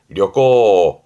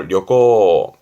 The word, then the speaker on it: 旅行: 여행의 여자 발음은 려꼬, 음으로는 려죠. 려꼬.